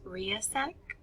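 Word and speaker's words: RIASEC: some combination of so it actually forms an acronym that I pronounce RC r i a e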